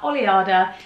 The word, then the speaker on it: Oleada: the label is called oliada i've had a lot of people ask me how to pronounce it so you pronounce it just like that oliada it's actually taken from the spanish word for wave so the reason that